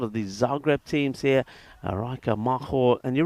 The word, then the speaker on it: Rijeka: So thank you for jumping in there saying hello, and also just helping us out with the pronunciation of Rijeka.